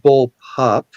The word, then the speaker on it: bullpup: Um, and yes, um, as Troll said, it's first of all, it's pronounced bull pup. Bull pup.